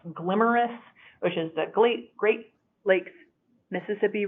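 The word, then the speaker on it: GLMRIS: study that was called a really unfortunate acronym that pronounced glamorous oceans ugly Great Lakes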